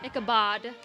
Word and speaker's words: Ichabod: Ichabod. Not Ichabod? Not Ichabod. Ichabod. Like bod, Like body. like Like Ichabod. like bod cologne.